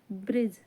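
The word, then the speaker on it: bridge: पढ़ते हैं हिंदी में ब्रिज यहां डी साइलेंट होता है यह रूल होता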